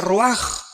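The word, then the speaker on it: רוח: con r de Raúl a c h se pronuncia roag por ejemplo cuando hablamos del Espíritu Santo El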